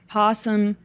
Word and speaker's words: opossum: So I was looking up possum screaming. Isn't that scary? And when I was doing my research, I know that there's possums and opossums, but we pronounce opossum possum, but they are different.